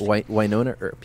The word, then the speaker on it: Wynonna Earp: right Wynonna Earp is that how it's called pronounced Wynonna Earp yes and the queue is called access tonight